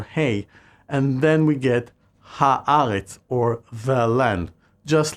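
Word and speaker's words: הארץ: In other words, Eretz effectively changes its pronunciation whenever the Hebrew definitive article is added, turning it into Haaretz.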